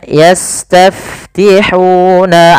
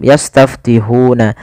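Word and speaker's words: يَسْتَفْتِحُونَ: Yastaf sin punya sifat namanya hames. Alirkan nafas yas. Kemudian taf alirkan juga karena fa juga hames. Kemudian huna hati-hati jangan menebalkan huruf ha. Jangan yastaftihuna nanti dia mengganti dengan huruf ha besar.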